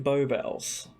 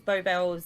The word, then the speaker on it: Beau Bells: Yes, Beau, innit? It's like Bowie free.